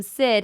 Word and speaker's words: Syd: guarantee you they like I say my name Sid and they go see I'm like no no no Sid it's just cause I